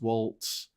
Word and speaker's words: Walz: Yeah, it's got a silent T or a missing T. Like apparently it's pronounced Waltz. Yeah, it's like a hard Z.